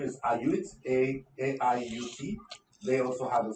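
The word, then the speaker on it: AIUT: There's also one of our partners, the pronunciation is Iot, A-I-U-T.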